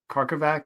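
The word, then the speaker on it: Karkovack: And you also did it with Eric Karkovac.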